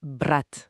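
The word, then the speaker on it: брат: L'exemple donné est brat. Brat avec un t final dur. Ça veut dire frère. OK. Mais si on ajoute le signe mou brat bratz, le thé devient mouillé.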